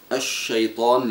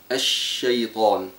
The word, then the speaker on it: الشيطان: ان يتنبه لها فمثلا عند قوله الشيطان لفظها هكذا بضم الشفى وطبعا لا علاقه للشين بضم الشفا فينبغي ان تلفظ الشيطان وكذلك عند قوله تعالى للصلاه